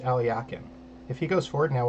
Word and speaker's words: Alekhine: owl Al yakin's defense it's not alkyne it's pronounced aliakin if he goes forward